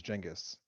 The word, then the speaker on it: Genghis: you know it's called genghis khan yes yeah okay well i guess the actual pronunciation is jingus um but anyway so